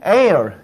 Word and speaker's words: aisle: 자, 그 다음에 air S자는 발음이 안 되지.